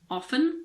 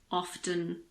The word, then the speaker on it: often: often in this word some people pronounce the T and some people don't it's your choice I personally say often so I don't pronounce it but you can say often if you want we're almost at